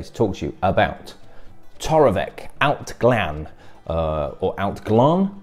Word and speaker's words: Torabhaig: Ben Bowers, the spirit specialist, and I am here today to talk to you about Toravek Allt Gleann or Allt Ghlinne depending on your pronunciation.